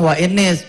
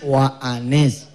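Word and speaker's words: وَأَنِ: Itu bukan wa inis, wa anis.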